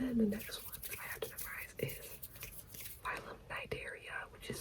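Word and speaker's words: Cnidaria: And then the next one that I have to memorize is Nigeria which is spelled C N I D A H R I and the C is silent and that is jellies and hydros.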